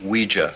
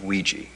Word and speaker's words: Ouija: 86 reason it's pronounced we jeah not Ouija it comes from the French and German words for yes we and yeah we